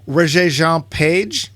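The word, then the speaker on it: Regé-Jean Page: Roger Jean Page, I guess is how you say his name. French.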